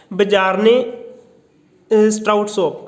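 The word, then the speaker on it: Bjarne Stroustrup: ये किया था बजारने स्ट्राउटसॉप। आप प्रोनाउंसिएशन पर मत जाना, ऐसे स्पेलिंग लिखना, BJARNE एंड STROUTSOUP।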